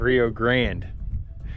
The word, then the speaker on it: Rio Grande: Rio Grande.